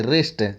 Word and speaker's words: wrist: रिस्ट means कलाई, रिस्ट, WRIST, रिस्ट means क्या, कलाई, इसमें W साइलेंट है, रिस्ट मीन्स कलाई।